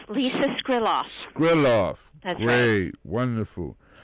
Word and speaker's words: Skriloff: trouble pronouncing your last name how do you pronounce your last name Lisa skrillos Grill off that's great wonderful now the name